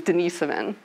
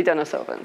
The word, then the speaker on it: Denisovan: denisova cave and so i pronounce it the european way which is denisovan but i know over here they say dennis oven so as far as